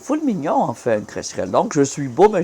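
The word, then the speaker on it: crécerelle: Déjà, on dit pas cresserelle, il l'a mal prononcé. C'est cresserelle.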